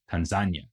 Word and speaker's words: Tanzania: Zanzibar and Tanya Nika giving us the new country of Tanzania or as it is also sometimes pronounced Tanzania so much for the